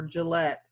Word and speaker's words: Gillette: Laramie and Gillett for Gillette say it like the razor why Cheyenne is special